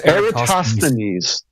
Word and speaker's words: Eratosthenes: No, it's Eratosthenes.